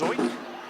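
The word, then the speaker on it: Zeuch: Z-E-U-C-H is the last name, pronounced Zoik.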